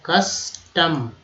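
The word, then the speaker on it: custom: रस्म, कस्टम, यू का उच्चारण यहाँ पर अ की तरह किया गया तो CU से क हो गया तो कस्टम।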